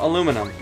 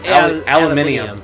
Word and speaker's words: aluminum: Aluminum. They say aluminum. Aluminium. Yeah. Which technically is also correct.